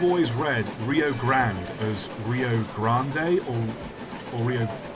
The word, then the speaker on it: Rio Grande: cuz it's you know it's Grand with an e on the end but then like no it's just the Rio Grand the E does nothing it's pronounced F Well